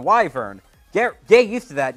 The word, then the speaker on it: Wyvern: original Sonic Frontiers video I didn't know how to pronounce it now I know how to pronounce it it's the wyver get get used to